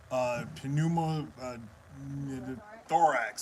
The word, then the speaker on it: pneumothorax: never pronounce that word, pneumothorax. Tension pneumothorax. Yes, can never pronounce that. Pneumothorax. See, I gotta treat it just like P pneumonia. Just say the P separately, and then I can pronounce the word.